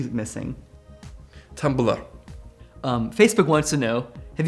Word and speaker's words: Tumblr: Is it pronounced Tumblr? Yes. How do you say it with the E missing? Tumblr.